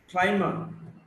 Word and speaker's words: climber: Climber, B is not pronounced.